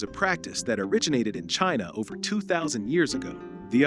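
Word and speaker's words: qi: Acupuncture is a practice that originated in China over 2,000 years ago.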